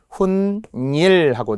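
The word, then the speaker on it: 훗일: 훈일. 뒤후자의 일인데 발음은 니은이 나겠죠. 훈일하고 니은 발음이 나는데 뒤후자가 한자어잖아요. 한자어 고유어가 만났어요. 니은 소리가 나요.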